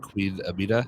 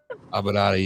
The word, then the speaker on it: Aminata: say this wrong, but Queen Amina. Is that how you say it? Aminata. Aminata, yes. What was it like stepping in the ring with her?